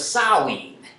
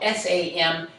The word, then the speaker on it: Samhain: was referred to as saowin uh spelled s-a-m-h-a-i-n samhain is how it looks like it should be pronounced but that's sort of a scotch gaelic word um that was the